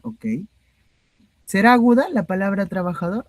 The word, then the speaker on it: trabajador: Claro, la palabra trabajador es aguda. ¿Por qué? Ya, porque la sílaba más fuerte es la última, dor, ¿no?